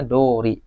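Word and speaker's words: 通り: saya jelaskan kalau ee di kata kerja itu thori sens ini itori misalkan. Tapi kalau misalkan diikuti kata benda itu dibacanya dori. Misalkan keyakunodoriwa ano kuyurowa jumangdes misalkan sesuai dengan eh apa?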